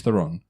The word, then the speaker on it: Theron: right so Charlize Theron Charlize Theron right and it's pronounced Iran everyone all right looking